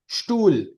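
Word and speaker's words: Stuhl: स्टूल, tool. नहीं तो स्टूल। एच एच एच हाँ साइलेंट स्टूल, रहेगा। हाँ यहाँ पे एच साइलेंट हो गया, स्टूल, स्टूल।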